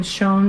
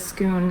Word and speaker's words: Schoon: um he i think he pronounced his name tim shone but everybody says schoon and there was this